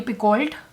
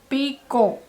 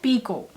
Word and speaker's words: Picoult: I've been pronouncing her name as Jodi Picoult for ages because I didn't know better, and I don't know why I didn't just Google her name. It is pronounced as Jodi Picoult. Everything after O in her last name is silent.